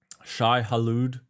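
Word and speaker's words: Shai-Hulud: Shy Halude, but it is spelled just to be clear when you're looking for it in your repos.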